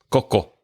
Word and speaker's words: Coco: Is it Coco or Coco? Coco. Coco. Coco. Well, I'm pronouncing it the Spanish way.